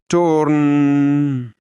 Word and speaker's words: Torn: It is pronounced by prolonging the sound of each vowel as follows: Torn.